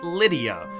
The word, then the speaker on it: Rydia: revelation to me that rydia is probably lydia because in japanese you don't differentiate between l and r sounds and rydia is not